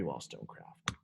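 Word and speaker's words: Wollstonecraft: of the three and she's got three syllables in her last name so naturally wall stone craft uh she was a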